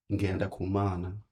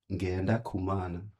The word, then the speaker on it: Ngendakumana: So your last name, how do we pronounce that? That is Ngendakumana. One more time. Ngendakumana.